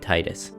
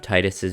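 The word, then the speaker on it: Tidus: Without spoiling too much of this magical story, you play as a boy named Titus. Apparently it's pronounced Titus, but I've been saying Titus for the past 20 years and I'm not about to change that now.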